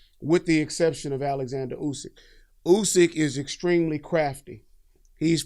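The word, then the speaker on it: Usyk: fact if you remember I said his name wrong Alexander usick is his name if you remember when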